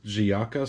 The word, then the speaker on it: Giaca: was only two bucks it is giaca sport that's how that's pronounced we've got some griffins